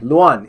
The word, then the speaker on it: Luann: didn't it Wow anyway luan is actually how you pronounce her name which makes more sense because LuAnn you would think would be like an extra in and an extra e at the end of it um I was going